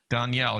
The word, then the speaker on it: Danielle: Danielle. Yeah, she said I Don like and Yell.